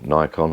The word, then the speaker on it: Nikon: was labeled up canon nikon or nikon however you want to pronounce it um the settings